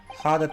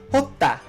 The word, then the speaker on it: Hotta: Hada Clinic? Yes, there would indeed appear to be an entry for the date in question. Oh, I'm sorry, I said Hada. It would be pronounced Hotta. Hotta.